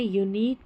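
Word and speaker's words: unique: यहाँ है यूनिक, टेक्निक और मॉस्क, मॉस्क क्यू नहीं बोलते, मॉस्क, QUE याद रख ले, QUE ये पैटर्न है, इसको पढ़ेंगे, क लास्ट में आएगा स्पेलिंग के ये पैटर्न।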